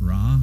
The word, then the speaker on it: Ra: The ninth of these victories, where Ra, the god of Egypt, Ra, the sun god, sometimes it's pronounced Re, but the sun god Ra, is now being taken to task.